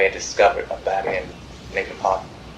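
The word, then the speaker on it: Leakin Park: It's actually spelled Lincoln Park, L E A K I N, but almost everyone in Baltimore pronounces it Lincoln Park.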